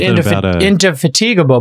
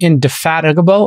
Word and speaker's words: indefatigable: turns on the afterburners i used to pronounce it into fatigable but i'm indefatigable i think it's impactable